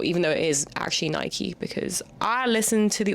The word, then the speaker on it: Nike: Like, that's one of the biggest names ever and people still are not sure, even though it is actually Nike because I listened to the audiobook Shoe Dog, thank you very much.